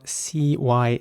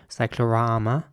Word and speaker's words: cyclorama: Next up, we have a word that's spelled C-Y-C-L-O-R-A-M-A. And in British English, it's pronounced cyclorama with R sounding A's again. Cyclorama. And in American English, it would be cyclorama.